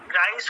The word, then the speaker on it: Grice: QUINE কোয়াইন, post উইটগেনস্টাইন WITTGENSTIN, jail Austin, তারপরে পল গ্রিস, গ্রাইস ওকে উচ্চারণটা করে GRICE, আর জন সাল ACARLE, জন সাল।